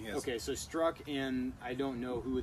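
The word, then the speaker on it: Strzok: It's pronounced Struck, but it looks funny. Yes. Okay, so Struck and I don't know who the other agent is, but Lisa Page.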